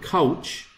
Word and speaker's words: couch: But you, if you want to say the word couch, if you do not pronounce the CH, it will sound like cow.